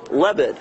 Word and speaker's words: Lebed: out from all the rest his name Jonathan leved how you doing Jonathan did I say it